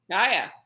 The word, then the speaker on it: Gaia: Is it Gaia? Gaia, yes. Gaia.